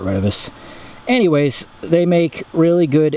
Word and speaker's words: Retevis: we got here today redivus or retivis depending upon how you want to pronunciate it i call it renovus anyways they make really